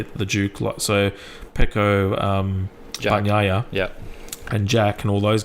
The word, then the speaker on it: Bagnaia: And Bagnaia, which is how you actually pronounce his name properly, not like the English commentators, Bagnaia. The G in the end in Italian is Nya. Yeah. So it's Bagnaia.